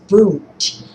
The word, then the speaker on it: Wundt: Number three is Wundt, and that is spelled with a W.